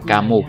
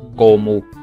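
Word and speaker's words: кому: Các bạn để ý trọng âm ở chỗ này cho mình nhé. Đó là chúng ta đọc là kamu chứ không đọc là komu.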